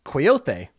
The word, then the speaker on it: Kwayothe: It's spelled Kwayothe, and the E has the little Oh, I'm. thing. Jeez Thank Louise. God to whoever put this pronunciation in here, because my Congolese is rusty. So let me see if it gives you. Coyote.